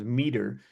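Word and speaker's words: METR: Um, I I guess they pronounce themselves Meter.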